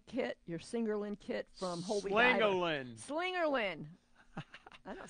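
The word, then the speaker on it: Slingerland: Do you still have your Singerlin kit from Holy Diver? Slingerlin.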